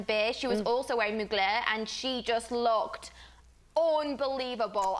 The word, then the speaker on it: Mugler: beat stuff a dream she said mugler i think that's how you say it yeah i said